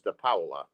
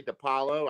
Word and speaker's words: DiPaola: You can say it however you want, but the correct Italian pronunciation is DiPaola. DiPaola. I can't But believe that but I've been. most people say DiPaolo.